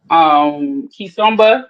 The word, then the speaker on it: Kizomba: Um, I take Kizomba dance classes, which is a form of dance out of Angola. It's spelled Kizom as in Mary, BA, Kizomba.